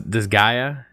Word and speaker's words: Disgaea: on the list here this guy this is this Gaia yes well what the is Disgaea it is a type of game that I